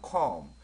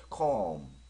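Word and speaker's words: come: 발음 할 때는 컴 근데 이자는 마지막에 있는 이자는 사실은 거의 발음이 안 됐죠 컴이라 발음할 수는 없습니다 그래서 컴 컴 실제로 발음을 컴컴 하는게 아니라 외국에 발음을 따로 시켜 보게 되면 컴 컴 이렇게 발음을 합니다 이거 같은 경우는음 아들이라는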